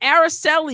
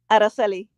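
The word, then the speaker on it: Araceli: in life right so is it araseli you can tell me now if I'm pronouncing this right you are actually AR say it again areli oh I get to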